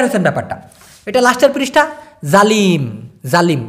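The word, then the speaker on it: zalim: জালিম, জালিম, জালিমটাকে উচ্চারণ করে ওরা জালিম, জালিম এরকমটা উচ্চারণ করে, মানে জেড দিয়ে, যেমন আমার নাম, এরকমটা জালিম, একই জিনিস।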